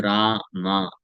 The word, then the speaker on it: राम: राम अगर बोलना है तो रा मा रा मा यानी दोनों होठ ऊपर जाएगा और फिर आके स्पर्श करेगा। तब पूरी तरीके से सही तरीके से राम उच्चारण होगा। करके देख लीजिए आप में से। करिए सब लोग बोलिए राम राम तो राम बोलना है तो होठ चिपकना चाहिए होठ खुल के होठ